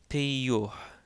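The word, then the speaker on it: ⲡⲓⲟϩ: So, again, the second yota in this word takes on a y sound because it is followed by a short o followed by a vowel.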